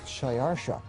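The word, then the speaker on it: Xšayāršā: His Persian name, in Old Persian, which is his original native language, is Shayarsha. Now that was hard for the Jews to pronounce, so they said Ahashverosh.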